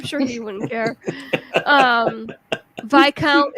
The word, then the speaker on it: viscount: he wouldn't care um vi count is viscount yeah i know but i pronounce it viscount because that's just i'm a rebel without a cause seriously all right so